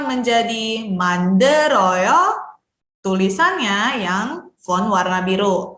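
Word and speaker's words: 만들어요: Ini karena ketemu sama vokal, teman-teman bisa pindahkan bacim lielnya dibunyikan bersama dengan vokal suku kata selanjutnya. Jadi manderoyo. Oke, kemudian kalau tadi kita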